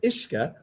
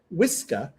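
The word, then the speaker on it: uisce: So the Gaelic word for water is Ishka, and the British said Whiska, and that's where whiskey comes from.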